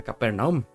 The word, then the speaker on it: Capernaum: días quienes descendieron luego a cafarnaúm o a capernaum en las dos pues versiones se puede pronunciar mencionar de las dos formas Jesús su madre y